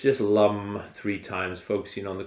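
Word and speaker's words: Lam: this element which is Lum so Lum it's it's spelled l a m but pronounced Lum like this now I'll chant it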